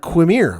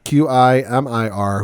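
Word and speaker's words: Qimir: Quimir. I think that's how you say it. Yep. Quimir, who we saw back in episode 2, I believe it was.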